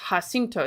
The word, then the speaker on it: Jacinto: Lizzie Jones says San Jacinto is Spanish, so it's pronounced Jacinto.